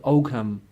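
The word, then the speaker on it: Ogham: it's a silent there G so we say ohm script like there Alma's and resistance 2 ohms grip but it's English people pronounce it Oh cam and it basically comes from oak ma the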